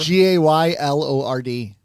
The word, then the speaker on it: Gaylord: G A Y L O R D. Gay lord. Gaylord. Not gay lord. Not gay lord. I thought it was gay lord.